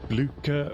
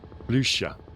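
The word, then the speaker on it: Blücher: Oh, Bluca rhymes with languisher. Blusher.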